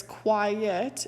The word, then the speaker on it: quiet: So quite is a one-syllable word, and it means completely or wholly or really, whereas quiet is a two-syllable word that means to be still or make no sound.